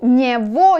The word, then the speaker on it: него: У него есть. У него есть. He has that. So, у него. Be careful here. Go. You can write go, but pronounce во.